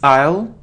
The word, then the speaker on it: aisle: So the stress is on the second syllable, guitar. It isn't easel or isle, it's aisle.